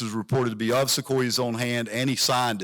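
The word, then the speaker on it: Sequoyah: But Sequoia is 3 syllables.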